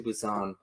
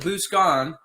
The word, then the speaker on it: Busan: You see them try to get to Busan. I hope I'm saying that right. No, you are. So I always called it Buscan the whole time because my 'Cause brains there's- might have been eaten.